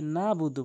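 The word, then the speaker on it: نَعْبُدُ: এরপরে যে ভুলটি করে সেটি হচ্ছে নাবুদু বলে, আইনের উচ্চারণটি বাদ দিয়ে ফেলে। আইনের উচ্চারণ হলকের মাঝখান থেকে।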